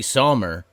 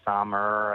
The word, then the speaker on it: Sommer: I get Sommer. I get Somner. I get different versions. Most people don't read my last name and think it's pronounced like the season, but it is.